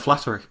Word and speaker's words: Flanary: It's Flattery. Flattery. It has been spelled that way before. And just so we're clear, how is it spelled? Oh my God, it's spelled like canary with an FL.